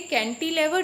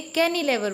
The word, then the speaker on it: cantilever: Cantilever bridge spelling में T है, लेकिन इसे कैंटिलेवर नहीं बोलेंगे क्योंकि T साइलेंट है. इस स्पेलिंग में T साइलेंट है, T की आवाज़ नहीं निकालनी, तो हम इसे कैनिलेवर बोलेंगे.